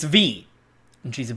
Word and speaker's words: Vi: bug fables with v simulator her name's not pronounced like vi by the way it's it's her her sister's